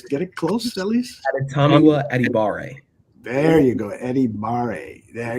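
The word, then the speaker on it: Adetomiwa Adebawore: your article you phonetically for us dummies, you phonetically spelled out Adetomiwa Adibara. Did I get it close at least? Adetomiwa Adibare.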